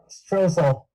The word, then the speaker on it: Strohsahl: Stroessel. Yeah, I can spell that for you.